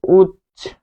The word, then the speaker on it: উচ্ছ্বাস: ফলে উজ্জ্বল শব্দটি এখানে আমরা পাচ্ছি, উচ্চারণ হচ্ছে উজ্জ্বল, উজ্জ্বল। তারপর উচ্ছ্বাস, উচ্ছ্বাস, উচ্ছ্বাস। দেখুন এখানেও তিনটি বর্ণ, তাহলে এটি হবে উচ্ছ্বাস।